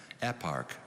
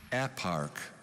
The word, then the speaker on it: eparch: capo di capodistrias plan eparch does this contain the greek archos meaning ruler yes it does could you repeat the word please eparch are there any alternate pronunciations just eparch could i have the